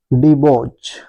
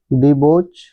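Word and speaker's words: debauch: और आप देख पा रहे हैं वह वर्ड है डिबोज है ना डिबोच डिबोज का मतलब क्या होता है भ्रष्ट डिबोच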